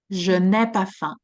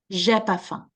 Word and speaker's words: je n'ai pas faim: J'ai pas faim. Okay, so it means exactly the same thing. It's just like in the je n'ai pas faim, the ne is pronounced, but it's taking a little bit, it's more time.